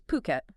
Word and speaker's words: Phuket: just booming, we're talking about Phuket, and that's Phuket, just so we're all saying it right.